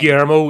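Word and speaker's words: Guillermo: you pronounce that name gero it's uh Spanish it's Latin americ yeah so the the L's are rs okayo all right not pronounce it yeah you don't pronounce the L's they're ymo y yeah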